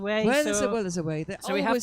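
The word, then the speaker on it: Wai: we knew that neither W AI but it's pronounced way we just you know we were just pretending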